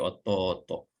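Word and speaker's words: おとうと: Kalau di sini ini bunyi panjang, ototonya, ya. To-nya bunyi panjang. Jadi ototo.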